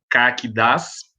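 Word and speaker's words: CAQDAS: E aí nós temos aqui essa agenda, início de conversa, o que são, né, os programas, né, CAC-DAS, a pronúncia é assim mesmo, e vamos ver o que significa essa sigla, né.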